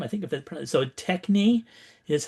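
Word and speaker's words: τέχνη: Um, here is the Greek term I think if it so techni is how I pronounce that.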